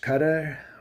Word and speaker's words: Qatar: But I'd like to thank they're telling me it's pronounced cutter.